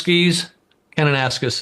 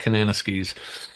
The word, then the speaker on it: Kananaskis: him up at cananas Canan ascus is actually the way it's pronounced but I like Kananaskis uh Canada at a